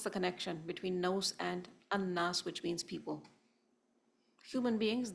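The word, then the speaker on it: الناس: And this word is actually al-unas. Al-unas. But it has been eased in terms of pronunciation and turned into an-nas instead of al-unas, with the elimination of the hamza.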